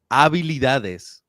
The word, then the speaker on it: habilidades: You use the H as a habilidades. Habilidades. Habilidades. Habilidades. Dades. No, Dades. dades. There you go. Mis habilidades. Mis habilidades. No ha, not ha. Ah. Ah. The H is silent.